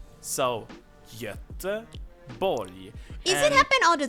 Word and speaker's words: Göteborg: G is usually softened into a E sound. Göteborg.